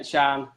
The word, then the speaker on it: Cian: It's pronounced Sean. I thought it might have been. Sean. Sorry about that, Sean. So not that I mind. Sorry, Sean. Yeah, Shan. Shan, actually. It's Shan.